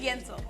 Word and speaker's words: Yentl: It's technically spelled like Yentle, but you know it's Yento.